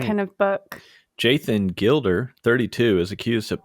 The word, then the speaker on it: Jaythan: It sounds like his name is Jason. And it was only 2 pairs, so 4 total earrings. But it's spelled Jaythan. It's spelled like Jonathan, but Jaythan. Like somebody had a speech impediment and called him.